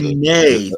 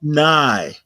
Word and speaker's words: neigh: They neigh. They don't nigh. Horses neigh.